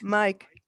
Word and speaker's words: Mic: It's from is it Mick, M-I-C? How do you pronounce that? Mick or Mike? Mike.